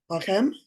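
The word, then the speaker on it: לכם: Lechesh tamish lacham. If we look at the ending vowel. Lachem There you go.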